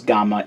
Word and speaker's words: Gamma: But I have seen it romanized as Black Gammer in most places. But Ninja Black pronounces it as Gamma in the show.